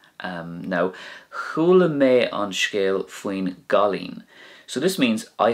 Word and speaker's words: faoin: So we don't say faoi on because that wouldn't be correct. We put faoi and on together, and together they make, I suppose you call it a new word called faoin. Faoin. It's easier to say and it makes for a more flowing conversation.